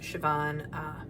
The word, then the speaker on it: Siobhan: Here you'll see at the very top, my name, Siobhan, as your instructor. It's pronounced Siobhan.